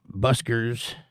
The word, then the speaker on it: busker: The music buskers, I think I said that wrong again.